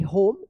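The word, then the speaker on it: home: द कैट was wait and cold Raju टूक T double O के took the कैट होम एच ओ एम ई होम E silent रहेगा।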